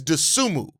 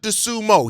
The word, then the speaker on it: Dosunmu: See First of all, Corrine, if he's your favorite player, it's Dosunmu, not Dosumo. He's not a sumo wrestler. Dosunmu.